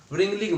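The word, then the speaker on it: wringing: इसको क्या बोलेंगे हम रिंगिंग मूवमेंट ठीक है इसको हम रिंगिंग मूवमेंट बोलेंगे क्योंकि यहां पर डब्लू साइलेंट होता है ठीक तो इसकी कंप्लीट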